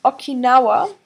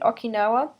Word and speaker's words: Okinawa: is aging so for example the islands of Okinawa Okinawa spelled OK i n a w just like you pronounce it Okinawa it's right off Japan's South Coast while they